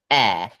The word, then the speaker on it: heir: In fact, there are 2 words pronounced air.